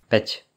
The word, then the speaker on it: päť: Il y a aussi A avec un tréma qui est théoriquement prononcé A, donc un E plus ouvert, mais quasiment tout le monde le prononce exactement comme le E.